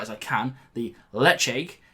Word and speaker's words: Ledaig: as I can, the Ledaig. Now I know that some people say Ledaig, but I'm given to believe it's acceptable to say Ledaig or Ledaig, something like that.